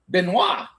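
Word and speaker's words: Benoît: wa you know I know that in French that you know that little uh oi t sometimes is not whatever. So, well, it's always W as a sound.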